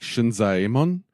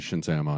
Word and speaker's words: Shinzaemon: they're each separate syllables. Like Shinzaemon, it's not Shinzaemon, it's Shinzaemon.